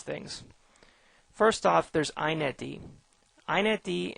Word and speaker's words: inetd: iNetD and XiNetD is how this is pronounced, are super servers.